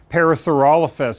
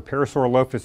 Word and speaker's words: Parasaurolophus: So I mentioned to you before that something like Parasaurolophus, or Parasaurolophus, if you want to pronounce it that way, has this big air